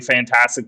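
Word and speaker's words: Fntastic: So it's spelled weird. You're not supposed to say fantastic, but it's basically fantastic just without That's the what I A. hear everyone say. Yeah. Yes, it's just, yeah, we're just going to stick with fantastic in the pronunciation. Just know the A is missing.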